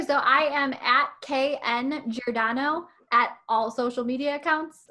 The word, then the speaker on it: Giordano: Ray remember it is Giordano. So that's apparently how you remember how to spell it. But if you're from like the Illinois area, it's like the pizza, Giordano's Pizza, just like that.